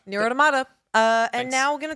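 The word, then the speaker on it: NieR:Automata: It's pronounced near automata.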